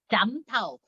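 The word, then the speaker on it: 斬頭: 잠타우.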